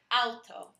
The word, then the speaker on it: auto: For example, we have the word auto, as in an automobile, in English, but in Spanish it's pronounced, the AU is pronounced more like OW. In Spanish, the word sounds more like auto.